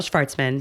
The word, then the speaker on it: Shvartsman: Shvartsman. Thank There we go. you. It's not Shvartsman. That's actually how you say it in the native. Yes. In the Neil. home country. Yes. Please. Shvartsman.